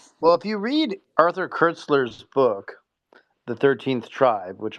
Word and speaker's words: Koestler: Kurtzler is how you say it.